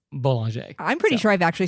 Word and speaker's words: Bollinger: And it's not Bollinger, it's Boulanger.